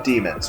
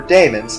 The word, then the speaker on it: daemons: These creatures mortals call demons, or daemons, depending on how you want to pronounce it. I prefer demons.